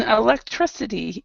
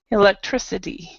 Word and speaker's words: electricity: service okay so on electricity you need to pronounce the last part it's stressed electricity electricity Perfect all right